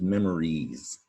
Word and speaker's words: memories: it comes to spelling mainly because of the z sound at the end listen memorize memories that s makes a z sound so let's check this